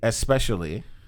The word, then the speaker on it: especially: See, especially. Yeah. People don't pronounce it like that. Especially. They pronounce it with EX, especially.